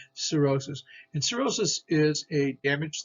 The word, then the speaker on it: cirrhosis: skin cellulitis cirrhosis cirrhosis so usually there's a ce here's a c i okay cirrhosis and cirrhosis is a